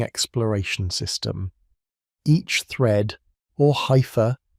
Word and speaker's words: hypha: Each thread, or hypha, pronounced hypha, grows at its tip, extending outward like